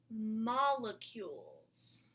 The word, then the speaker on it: molecule: see molecule molecule and the word molecule has a silent e at the end there's our new world word molecule practice saying that MA let q molecule any idea what